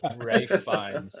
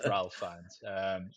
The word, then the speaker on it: Ralph Fiennes: We've got is it Ralph or Rafe? I don't know how he likes to pronounce his name. I call him Ralph. Rafe. Dick. Rafe. Rafe Fiennes. Ralph Fiennes.